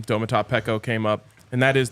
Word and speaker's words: Domata Peko: mentioned it the other day when the name domat PCO came up and that is the correct pronunciation we didn't have to wait on that